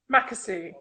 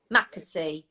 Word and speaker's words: Mackesy: Mackesy. Mackesy.